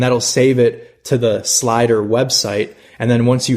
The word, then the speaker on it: SLIDR: search for slider now make sure that you spell it correctly there is no e so it's s l i d r slider you'll find it in the app stores on